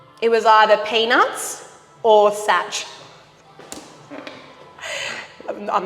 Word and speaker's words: Saç: Saç, which is pronounced such, but it's SAC with a little bit of that.